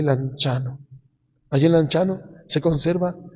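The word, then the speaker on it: Lanciano: Cuando ustedes vayan a Italia, hagan el esfuercito de ir a ese pueblito llamado Lanchano, se escribe anciano, se lee Lanchano.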